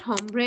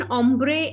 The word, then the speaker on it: hombre: Okay, now this is not hombre and all that. This is pronounced as hombre, and it's a Spanish word.